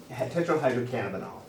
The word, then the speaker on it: Tetrahydrocannabinol: Tetrahydrocannabinol? Tetrahydrocannabinol.